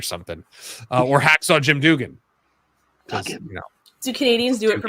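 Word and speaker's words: Duggan: I was just going to say yeah maple cookies but yeah pretty much and it's pronounced and it's pronounced dugan not that if Bill Watts says it's dugan then it's dugan who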